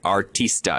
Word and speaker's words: Artista: So I'm looking at right now the Artista. It's the ankle boot. Did I pronounce that correctly?